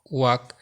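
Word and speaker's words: walk: এই শব্দগুলোর এল সবসময় সাইলেন্ট থাকে, যেমন কাফ, হাফ, সাভ, বাম, খাম, পাম, চক, টক, ওয়াক, code, should, would, colonel, folk, yoke, Lincoln, almond, সেমন।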